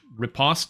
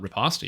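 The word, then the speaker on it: riposte: work try using faint it's pronounce ripost not repost yet okay so that's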